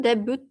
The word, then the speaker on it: debut: Debut and debuted. Oh, you pronounce debut what? debuted debuted Yeah, debut and debuted. Oh, but the the present tense you Do you pronounce the T? Debut, no. Not the T.